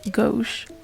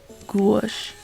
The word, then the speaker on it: gouache: Some people pronounce it gouache or gouache.